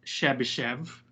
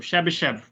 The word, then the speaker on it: Chebyshev: finish uh chebyshev interpolation pronouncing chebychev the westernized spelling is shabby chev pero young through russian a chebychev and i had a russian professor her uh that is so ambassador chubby chef so but i'll try to stick to the western pronunciations of chebyshev polynomial but the chebyshev